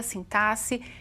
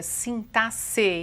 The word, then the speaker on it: sintaxe: Hoje eu vou me preocupar em ver com vocês uma parte da sintaxe, e é assim mesmo que se pronuncia, sintaxe e não sintaxe, como alguns querem, não é?